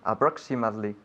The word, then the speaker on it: approximately: English IM nice again approximately oh very good approximately now not approximately but approx we have that we have a different way of pronouncing the I in this case in English approximately one more time